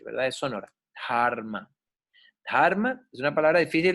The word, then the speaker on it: dharma: Dharma, se pronuncia dharma. La H en sánscrito es sonora, no es como en español, que no suena, ¿verdad? Y no es como en inglés, que en inglés suena la H, ¿verdad?